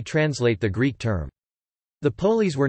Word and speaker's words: πόλις: Polis, Greek, polis pronounced polis, plural polis, polis pol-s, literally means city in Greek.